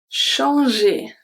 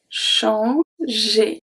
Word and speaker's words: changer: So when we have G following by E or by E, it's going to turn into a soft G.